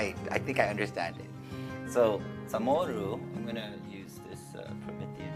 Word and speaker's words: Chamorro: As we know, Samoru is usually spelled or before it was traditionally spelled with a C-H-A-M-O-R-R-O, right? So this is the traditional spelling, right? This is what we know as Samoru. The new orthography allows us to spell it this way for a couple of reasons. One is because there is no C in Chamorro language in the pronunciation, so there's a CH.